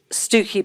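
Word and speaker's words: Stiffkey: you have something like this is called stooky Blue it spelled s IOU F ke Y and it's a very farble thing that you pronounce things differently to how they're spelled but this was a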